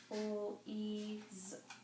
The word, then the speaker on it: please: So the EA says E, because that first vowel does the talking, so we're going to have the long E sound. And then this E at the end is silent. We're not going to hear it. So we have please, please. And that S is one of those ones that kind of makes the Z sound.